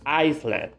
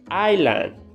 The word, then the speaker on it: island: people say this were iceland but iceland is a country okay this word needs to be pronounced island so please don't say the s island okay that's the